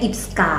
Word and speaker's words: IPSKA: Kita biasanya bilangnya IPSKA.